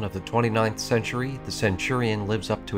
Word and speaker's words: centurion: the centurion or kenturian if you want to say it like a weirdo with a questionably motivated interest in ancient taran history is one of the